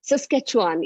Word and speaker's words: Saskatchewan: And don't even ask me how to pronounce Saskatchewan. I think that's how they say it. Saskatchewan, yes, thank you.